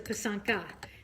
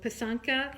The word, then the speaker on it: Pysanka: You pronounce it Pysanky. P-E-E-S-A-N-K-Y would be like the phonetic spelling. So Pysanky. And one is a Pysanka. So Pysanka is singular, Pysanky is plural.